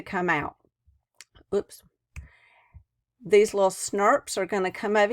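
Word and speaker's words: snRNP: The introns are going to loop out as these special little particles called SNRPs. That's how it's pronounced.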